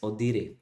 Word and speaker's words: audire: Okay, so it says the word audit originates from the Latin word, and because it's a Latin word, audire, we pronounce it as audire.